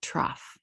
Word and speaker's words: trough: Here's this word trough. I want you to look at how it is spelled. T-R-O-U-G-H, trough.